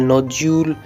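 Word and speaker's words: nodule: तो first example है schedule, दूसरा एग्जाम्पल है नोड्यूल, तीसरा एग्जाम्पल है फ्रोजुलेंट, चौथा एग्जाम्पल है फ्यूज्यूल।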